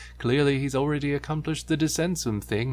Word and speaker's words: Descensum: And yes, I am aware that they tried to pronounce it slightly different on the show, but this is how you should properly pronounce it.